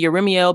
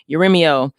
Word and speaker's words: Jeremiel: Like Yeremiel. Yeremiel. My bad. I'm saying Yeremiel because the Hebrew, the J is a Y.